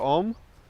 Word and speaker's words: om: start the class with mantra om which consists of three sounds ah o and try to feel the